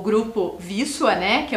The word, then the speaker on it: Wisła: Mas essa questão da nomenclatura, a gente só sabe que pronuncia Wisła Porque a gente foi perguntar, né, professor André? Exatamente. Porque senão a gente ia ler conforme tá escrito ali. Como eu li primeiro para vocês, né? O tal do Wisla, né? E se lê Wisła.